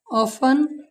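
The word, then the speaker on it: often: Match, ऑफन, catch, batch. You silent कब होता है, अगर यू के बाद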